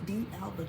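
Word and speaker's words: d'Alba: the Alba I've heard I've heard some people say some funny stuff when pronouncing that but it's D Alba you know just like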